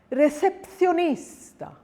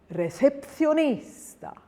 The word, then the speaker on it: recepcionista: And here's a longer word, recepcionista, recepcionista. Rule number 2, if a